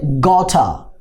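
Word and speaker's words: got a: বলছেন এই গট plus এ এই দুইটা মিলে গঠা ঠিক আছে কিসের মধ্যে উচ্চারণ হবে গঠা তাহলে কি হবে আই গঠা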